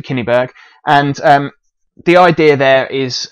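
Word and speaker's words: Cyneburh: This daughter is called Kinniburgh. My Anglo-Saxon pronunciation is not great. But anyway, we'll go for Kinniburgh.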